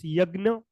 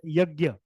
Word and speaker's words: yajna: In Sanskrit, this is wrought as yajna, or also they pronounce yagna or yajna. Generally people pronounce it as yajna.